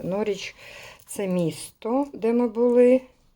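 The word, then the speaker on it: Norwich: і norfolк це norрвіч nor nor nor W не читається норч це місто де ми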